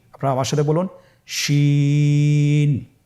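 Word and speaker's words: ش: শিন। আপনারা আমার সাথে বলুন, শিন। আপনার ঠোঁটের অবস্থান কীরূপ হবে আপনারা লক্ষ্য করুন, শিন।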